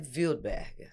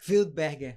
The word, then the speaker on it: Wildberger: É um sobrenome alemão, que na verdade deveria ser Wildberger, Windberger.